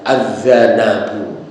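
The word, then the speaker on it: الذنَب: itu dalam bahasa Arab Ada kata lain yang hurufnya sama tetapi cara bacanya berbeda kalau ini cara membacanya azzanbu Nah yang satu lagi adalah azzanabu nah itu kalau azzanbu artinya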